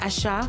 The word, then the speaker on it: Asa: À 39 ans, Asa, prononcé Asha en Yoruba, Bukola et Lemide de son vrai nom, fraye désormais avec les poids lourds de la pop musique nigériane.